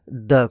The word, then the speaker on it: the: द को कभी द कहा जाता है तो कभी दी कहा जाता है, जैसे कि दिस इज द मोबाइल। और अगला एग्जांपल है this is दी ice cream. Mobile के केस में हम कहेंगे द मोबाइल और आइसक्रीम के केस में कहेंगे दी आइसक्रीम।